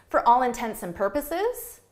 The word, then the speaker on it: for all intents and purposes: But when you say this at a natural pace, for all intents and purposes, for all intents and purposes, it sounds like intensive.